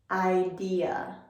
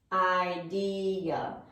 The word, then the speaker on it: idea: our next word is idea idea and the problem that speakers often may have when pronouncing this word is that they will take off this last syllable we have and just